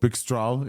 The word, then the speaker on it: Pixtral: Pixtral is, like the vendor said, is the right way to pronounce this.